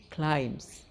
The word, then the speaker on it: climb: Yes, that's a mountaineer person who climbs a mountain. Don't forget, we don't say climb. That mbu doesn't come. So it's a silent letter.